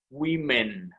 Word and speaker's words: women: cuando son varias entonces lo único que cambiamos en la a por la e y lo pronunciamos women listo women listo entonces